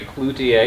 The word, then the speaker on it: Cloutier: Cloutier. Am I saying that right? Yes. It's a very French name.